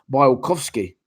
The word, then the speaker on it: Białkowski: You know, in Poland, the W is pronounced as a V. Białkowski's name is actually pronounced Białkowski.